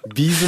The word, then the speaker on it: B'z: のは初ながらビーズのちゃんとした発音ですよならったんだけど b'z って言うんですねリーズじゃねぇいやーいい中に